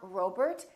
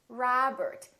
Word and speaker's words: Robert: Make sure that you don't say oh, it's not Robert, it's Robert. It's not McDonald, it's McDonald.